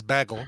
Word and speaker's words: bagel: and unmute cuz uh let's see bagle or Bagel my next door neighbor says baggle she says that the the appropriate Jey pronunciation that's hilarious all